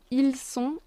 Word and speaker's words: ils sont: Then we have ils sont in L and elles sont, ils sont. T is silent. It's just the sound on.